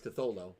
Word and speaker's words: Cthulhu: saying it wrong. It's Cthulhu.